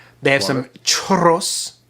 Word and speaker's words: churros: churros. You have to roll your R's.